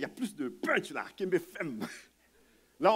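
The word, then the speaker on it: kenbe fèm: Ah, kembe fem. Hein? Je trouve qu'il y a plus de punch là, kembe fem. Là, on enlève le R de ferme, on dit fem.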